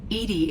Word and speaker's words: EDI: EDI is the phonetic pronunciation of EDI.